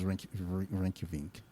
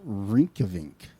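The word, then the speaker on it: Reykjavík: There's no N, Dante. Where's the N coming from? I said Reykjavik. I didn't say Vink. I said Vik.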